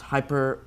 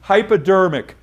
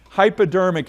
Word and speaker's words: hypodermic: the skin pastor ammed uh I think it's pronounced hyper that's good try good hypodermic hypodermic is what it's called yeah try again red